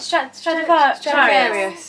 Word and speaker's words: Stradivarius: And then, how do you pronounce it? Stradivarius.